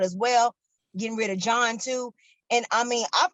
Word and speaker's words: John: Like, I mean, I know the H is silent, but what is the obligatory H in your name, sir?